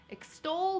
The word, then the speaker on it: extol: Extol means to praise enthusiastically. Let's pronounce the word slowly. Extol, extol. Sounds like ex-stol.